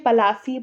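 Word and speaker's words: Plassey: लेकिन जो ब्रिटिशर्स थे वो इसे सही से प्रोनाउंस नहीं कर पाते थे इस जगह को, इसलिए पलासी पलासी कहते थे, इसलिए इसे कहा जाता है बैटल ऑफ प्लासी।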